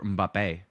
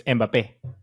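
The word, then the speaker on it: Mbappé: you say do you say mbapp or mbappe mbapp oh wow is it's it's it's because it has the accent in the E so it's mbappe yeah I know but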